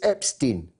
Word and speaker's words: Epstein: from the very beginning when most people didn't know how to pronounce his name and some people still don't it's still a controversial matter it's Epstein Jeffrey Epstein he is